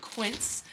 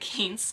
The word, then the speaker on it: Quint: from a brand called Quint which I mispronounced it in my haul with them I called it K but if you don't